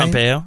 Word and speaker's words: Pompeo: B, he was dismissed in the same tweet in which am I pronouncing the name right? Pompeo? Is that right? Pompeo, right.